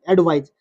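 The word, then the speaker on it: advise: एक होता है spelling A डी वी आई एस। ए डी वी आई एस एडवाइज।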